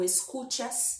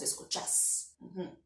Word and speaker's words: escuchás: Ou o verbo vai perder a irregularidade, tienes para tenés, ou a sílaba mais forte vai mudar de lugar. Então, normalmente a gente fala tu escuchas, em espanhol de Argentina, decimos escuchas. Assim como sales, salís.